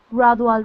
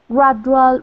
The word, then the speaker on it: gradual: word is okay so the D is pronounced like a g or a j a dramatic gradual reduction